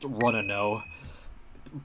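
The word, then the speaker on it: Runouw: From what I heard back in the day, it was actually pronounced Runno. So, that's what I'm going to keep calling him.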